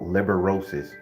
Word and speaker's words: liberosis: And this ancestor energy that I'm talking about is called Liberosis. You could like spell it like you're spelling Libra, but with a Libra, but with don't change the R and the E. So liberosis. So now, if you don't